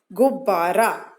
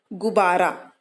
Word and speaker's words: गुब्बारा: गुब्बारा, क्या है ये? गुब्बारा। ये जो आधा वाला ब है, ये बहुत थोड़ा सा इसकी आवाज है, गुब्बारा।